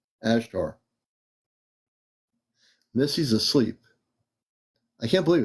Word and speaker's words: Ashtar: Q&A night uh again as t a r not to get it mispronounced a like an alpha s like an Sun H like an Hotel T is in Tango A's in Alpha RS in Romeo ashar Miss's asleep I can't